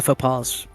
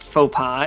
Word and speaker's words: faux pas: know the folk the faux Paws that's a French word I can't use that I I don't know the Opex did you just print Did you phonetically pronounce faux pas is that what you